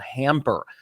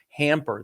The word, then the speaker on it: Hampr: It's called Hamper. It's spelled Hampr. Hamper.